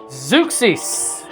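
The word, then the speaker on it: Zeuxis: Zukis is uh how they pronounced her name.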